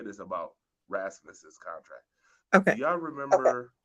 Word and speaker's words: Rasmus: See, I can't even pronounce his name without sounding like a dummy. Rasmus, right?